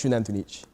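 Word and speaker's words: Xunantunich: Oh yeah, the Mayans pronounce their X's like Shunantunich is spelled with an X at the beginning, and it's not like Wantunich or anything like that. It's Shunantunich.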